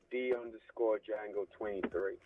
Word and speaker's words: D_Django23: D_Django23. The D is silent.